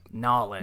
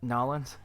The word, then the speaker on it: New Orleans: But Nolans. Now live Is that how they say it? Yeah. Nolans? Yeah, New Orleans.